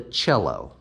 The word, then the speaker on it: cello: then we've got the cello pronounced with a ch sound the cello is a